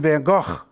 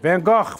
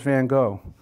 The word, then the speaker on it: van Gogh: was born in Antwerp she says to say it like this Vincent van Gogh and she coughs as she says it van Gogh van Gogh but Miss Cook says van Gogh we are march single